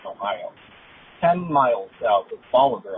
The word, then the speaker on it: Bolivar: 10 miles south of Bolivar, Ohio. Not Bolivia, Ohio, as Jeff said in a previous episode, but Bolivar, Ohio.